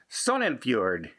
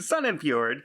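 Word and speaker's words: Sognefjord: has run aground in the i'm going to pronounce it sonnenfjord and and i did look up the pronunciation sun and fjord because i was going to watch that completely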